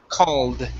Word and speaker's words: called: instead of CED okay the e in the word is uh not pronounced okay and we say called called okay give me